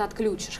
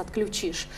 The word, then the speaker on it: отключишь: по области 80% населения у нас говорит отключишь хотя правильно единственной нормой во всех словарях является отключишь и в этом смысле